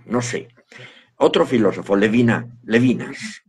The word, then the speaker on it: Levinas: sé otro filósofo levina levinas se conoce muchas veces la castellanización como levinas pronunciaría levina Emmanuel levina este hombre dice una